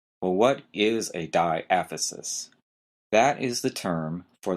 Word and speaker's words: diaphysis: the first term is diaphysis d-i-a-p-h-y-s-i-s diaphysis notice the stress is on the second syllable it really doesn't sound like it looks well what is a diaphysis that is the term